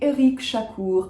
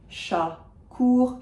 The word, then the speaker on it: Éric Chacour: And finally, Éric Chacour. Again, very basic if you know French pronunciation rules. Final C is pronounced, final R is pronounced. Éric, Chacour, Chacour.